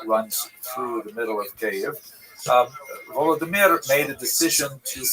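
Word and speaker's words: Kyiv: they centered around the city of cave. That's the Ukrainian pronunciation by the way that's favored today because of course Ukrainian is the dominant language in the country but it used to be called in English Kiev which is closer to the Russian pronunciation because Russia dominated much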